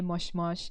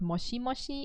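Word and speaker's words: もしもし: usually going to say moshmash in japanese it's not mushy mushy it would be spelled like moshmosh yeah so like all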